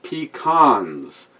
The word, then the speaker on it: pecan: It's pronounced pecans. Get it right, Yankees. See? See, there you go. Thank you, Wade. Pecans? Fuck that. It's pecans.